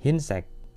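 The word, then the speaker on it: 흰색: Kalau ini contoh yang kedua, ini huruf e-nya didahului huruf konsonan, maka kita baca i. Himang, terusan hinsek.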